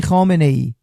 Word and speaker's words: Khamenei: Sir, please stop mispronouncing this man's name. His name is Ali Khamenei. You just saw a documentary. Khomeini died in the 80s. Ali Khamenei took his place.